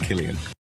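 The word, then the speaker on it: Cillian: were Saints um originally and um and it's pronounced Killian okay but what what about the last name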